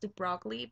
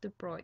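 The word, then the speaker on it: de Broglie: And I know it looks like it's pronounced the broccoli but it's actually pronounced the bruy in French.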